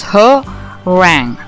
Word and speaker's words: harangue: in this video uh the word is herang and the pronunciation is her rang all right um as